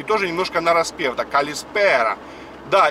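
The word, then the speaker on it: καλησπέρα: И точно так же, как калимера, точно так же ударение идет калиспера. И тоже немножко нараспев. Да, калиспера.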